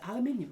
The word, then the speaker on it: aluminium: aluminium the aluminium B you hear that Americans aluminium that's how you say ite uh can you